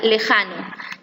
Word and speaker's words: lejano: En la primera palabra, pariente, la sílaba tónica es riem. En la segunda palabra, lejano, la sílaba tónica es ja.